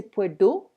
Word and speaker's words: puedo: Puedo, normally we should say puedo, but the D is really hard to pronounce for the Spanish.